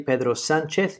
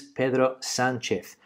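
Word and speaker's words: Pedro Sánchez: I say Pedro Sanchez because his name is Pedro Sanchez.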